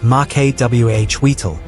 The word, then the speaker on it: Macuahuitl: The Macuahuitl, roughly pronounced Macuahuitl, was essentially a Mesoamerican chainsaw sword.